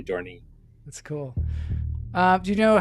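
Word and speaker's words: dohrnii: I made doornail, but it's really dorney.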